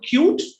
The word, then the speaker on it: CUET: uh it's i mean we always say c-u-e-t but if we want to pronounce it we'll call we can call it cute so really it's a